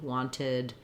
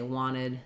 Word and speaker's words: wanted: Um also India, they would say the T, wanted, sentimental, uh momentum. We would say wanted, sentimental, momentum. Um We would say both actually. In the US, we do a mix and it's not consistent. It's not tied to a particular region of the US or particular speaker. When I'm speaking, sometimes I say wanted and sometimes I say wanted.